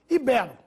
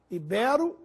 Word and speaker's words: ibero: se fosse proparoxítona habitat ibero ibero é assim que se pronuncia o nome dos antigos habitantes da Península Ibérica látex essa palavra deve